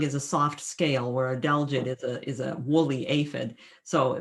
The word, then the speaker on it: adelgid: I'm not going to pronounce it right, the agelid. Adelgid, yes, adelgid.